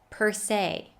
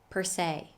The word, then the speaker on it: per se: correctly the next word in spite of being spelled with an e is pronounced with a long a sound say per se per se thank you so much